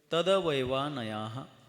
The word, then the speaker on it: तदवयवानयाः: सूत्र क्रमांक 39 सूत्र तदवयवानयाः तदवयवानयाः तदवयवानयाः, बोलिए। हाँ, इसका उच्चारण जरा सावधानी से करना पड़ेगा। तद्वैवा नहीं बोल करके चलेगा, तदवैवा, क्योंकि द जो है वो हल नाही आहे।